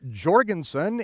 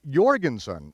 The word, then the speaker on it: Jorgensson: And even today over in Europe, uh you don't speak of Mr. Jorgensson. It is Mr. Jorgensson even though it's spelled with a J.